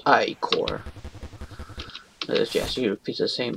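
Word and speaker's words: ichor: fill it with magical icro that bro that's pronounced i core yes you repeat the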